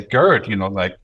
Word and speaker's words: Gerd: machine could say, oh, Gerd is spelled Gerd. It's not an English name, it's a German name. Therefore, I'm not going to say nerd or turd, or I'm going to say Gerd, because I learn, my